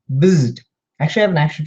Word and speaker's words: Bzzd: So Bzzd, you say it's onomatopoeia. It sounds like it's spelled. Bzzd.